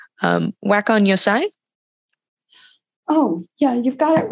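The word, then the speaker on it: 和魂洋才: So in your essay, you mentioned, forgive me if I pronounce this wrong, wakon yosai?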